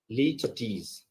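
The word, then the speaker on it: litotes: one is little tease remember the pronunciation of this one leech tease okay so what is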